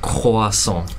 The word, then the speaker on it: croissant: The way we pronounce the R is completely different than English, for example. So how do you do it? Okay, let's say croissant. It's croissant. So we pronounce croissant.